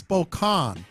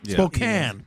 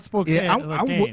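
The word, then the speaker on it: Spokane: a rant real quick it's Spokan Spokan not Spokan I'm with him on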